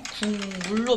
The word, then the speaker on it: 국물: 이 비음화의 대표적인 예로는 국물이 있죠. 국물로 발음되죠. 이 기역이 비음, 미음을 만나서 이음으로 바뀌는 거예요.